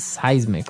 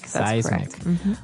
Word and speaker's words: seismic: affect us okay so that's seismic activity it's pronounced seismic right seismic okay and uh because of all this activity